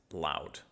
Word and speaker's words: ЛАУД: So, So yeah, that is the album Electric Sky Music and the group is Loud. That's how you pronounce it.